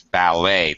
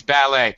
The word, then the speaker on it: ballet: In this word it's ballet. The t is actually silent with an accentu at the end of the word ballet.